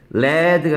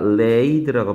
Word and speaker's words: laid: lay, laid, laid 얘는 led가 아니라 laid라고 발음하네요. 아까는 이거 sad라고 했잖아. 이거 said가 아니라 뭐라 발음해? said라고 했잖아. 근데 얘는 led라고 하지 않다고요. aid 똑같이 끝나는데요. led 아닌가? 아니, laid입니다.